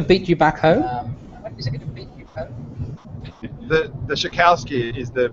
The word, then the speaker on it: Shokalskiy: The Shokalskiy is the pronunciation.